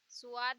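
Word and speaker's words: ص: स्वाद यानी इसे भी हम सा से प्रोनाउंस करते हैं, लेकिन क्योंकि स्वाद होता है तो स्वाद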